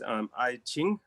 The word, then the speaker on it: Ai Qing: And your father, I'm not sure if I'm pronouncing the name right, was Ai Qing. Exactly, you pronounce the name better than me.